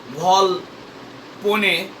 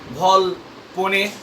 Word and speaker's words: Volpone: The standard pronunciation is Volpone, but some professors of English also pronounce it Volpone. So you can pronounce both Volpone and Volpone. You can choose either of the two pronunciations.